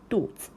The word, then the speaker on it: 肚子: And here 肚子 have the same like situation. Here 子, right, 子, this character itself, it should be pronounced as the third tone 子, right, but here it is like it does not have that tone. It's just 肚子.